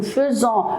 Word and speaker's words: faisons: On écrit avec AI, nous faisons, mais on le prononce nous faisons.